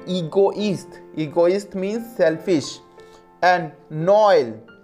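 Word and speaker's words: Noël: So for this pronunciation, egoist, egoist means selfish, and Noel, Noel, Noel, Noel, it means Christmas.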